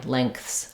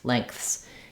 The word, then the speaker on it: lengths: is fine lengths lengths you might find it easier to think of it um as having ink length lengths um so you could think about it spelled like um like this when I'm saying a word like sink this letter N is an NG sound we don't say an n Sound it's not sink but rather sink sink so same